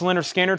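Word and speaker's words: Lynyrd Skynyrd: Pronounced Leonard Skinner from Analog Productions, pressed at QRP.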